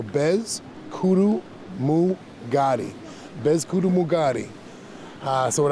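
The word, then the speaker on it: Peskotomuhkati: The correct way to say it is Bez Kudu Mukadi, and I like breaking it down syllable-wise, so Bez Kudu Mugadi.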